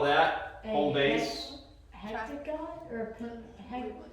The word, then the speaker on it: hexagon: If it's got 6, Hectagon. did you say hectagon? Is it wrong? That's wrong. What? You're close. Yes, 8. Hexagon. Hexagon.